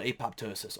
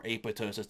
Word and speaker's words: apoptosis: are programmed to die it's called apoptosis or apoptosis depending how you wanna pronounce that so we lose 50